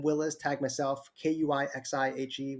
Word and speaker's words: Kui He: Tag myself, Kuixihe, which is pronounced Kuisihe, depending if you're American or not, because my name in Chinese is totally different.